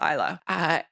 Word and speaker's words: Isla: But anyways, Google tells me it's Isla.